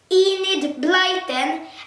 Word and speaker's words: Enid Blyton: have said it wrong I have said Guild Blyton and it's wrong so I said it completely wrong and just so you know so the author is a need like them I'll see this it's